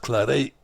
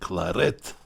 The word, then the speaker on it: Claret: Anthony Mary Claret. Some people think it should be pronounced Claret, but he was Spanish, not French, and the Spanish pronounce it Claret.